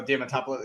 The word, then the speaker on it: Diamantopoulos: You got, I don't know how to pronounce his name, Chris Diamantopoulos. Oh, Diamantopoulos, yeah.